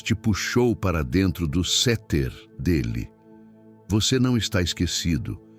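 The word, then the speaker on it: סתר: Para aprofundarmos neste conceito, podemos olhar para a palavra hebraica para esconderijo, usada no Salmo 91, que é seter, se pronuncia seter.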